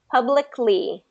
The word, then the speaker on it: publicly: I mean publicly publicly got to get that K in there public publicly publicly get that lick public prop properly so do this lick lick mm lick lick lick Le lickly Publick publicly here just do publ pck and get that k at the end publ pck there you